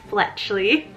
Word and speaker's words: Fletchley: of fletchley it's spelled f-l-e-t-c-h-l-e-y so this is like fletcher except super cute like it has this sweet soft sounding fletcher fletchley really liking this